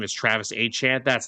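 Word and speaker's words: Etienne: Okay, let's go sign Travis ETN who just came off a great year in Jacksonville. And yes, I know he said that the actual pronunciation of his name is Travis Achant.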